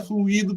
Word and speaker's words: fluído: Agora, a palavra fluido, que é uma palavra trissílaba, com a sílaba tônica em i, trata-se de um particípio do verbo fluir, usado para indicar algo que correu ou se escoou.